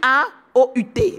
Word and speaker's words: août: Et donc, cette langue Ekan nous dit que le mois d'août s'écrit A-O-U-T. Et vous savez que ça veut dire Aou.